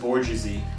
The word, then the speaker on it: bourgeoisie: It's pronounced bourgeoisie.